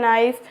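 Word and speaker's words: knee: next one इज नी तो यहां पर भी क्या हो जाएगा के साइलेंट तो क्या बोलेंगे नी नेक्स्ट वन इज नाइफ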